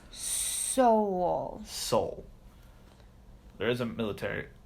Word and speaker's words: Seoul: It's Seoul.